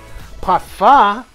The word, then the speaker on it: parfum: Parfum. The M is silent, Carlos.